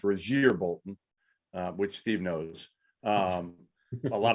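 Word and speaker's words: Rasir Bolton: And Andrew Nembhard and Rozier Bolton, by the way, it is pronounced Rozier Bolton, which Steve knows.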